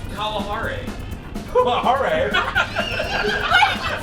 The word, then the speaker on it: Kalahari: The rest of the trip, and now it's called, the real name is the Kalahari, the Kalahari Resort, but I went like this, I go, oh, look over there, it's the Kalahari.